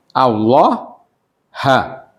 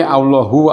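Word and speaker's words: اللهَ: Jadi ini setelah kata anna itu membacanya apa itu? Allah ha. Tidak boleh Allahu Allah ya. Ya sama inna anna sama ya. Wa nah wa anallah ha. Kalau kita baca anallahu atau hi gak bisa ya.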